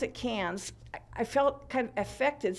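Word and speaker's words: Cairns: Great Barrier Reef area and in Australia they pronounced at Cannes I felt kind of effective saying that but everybody else there was saying Cannes so that's the way they pronounce it we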